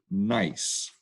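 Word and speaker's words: gneiss: photo is a banded nice now nice is spelled g-n-e-i-s-s the bands are made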